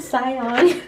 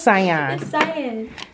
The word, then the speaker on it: cyan: it also came with he said Scion it is cyan oh cyan cyan um let me know